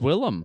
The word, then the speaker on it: Willem: I think it's spelt William though, but I've only heard it pronounced Willem Dafoe. I think that he's just a cool guy. No, it is Willem.